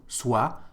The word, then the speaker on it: soit: So here you can see there is a T, but we don't pronounce it, so soit, soit.